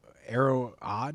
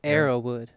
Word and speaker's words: Arrowood: It's uh Arrow uh Arrow odd? Is that how you say it? Or how do how do you say it? Arrowood. Arrowood. Oh, there's one one O missing.